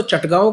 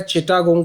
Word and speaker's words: चटगांव: 14th है इसकी pronunciation Hindi में तो चटगांव करते हैं, शायद इंग्लिश में हो सकता है चिटागोंग करके करते हो, वैसे चटगांव बोला जाता है हिंदी में इसको।